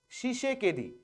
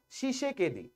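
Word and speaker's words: Tshisekedi: হবে নাম হচ্ছে ফেলিক্স শিষে কেদি এই তিটা সাইলেন্ট থাকবে উচ্চারণের সময় শিষে কেদি তাহলে ডেমোক্রেটিক রিপাবলিক অফ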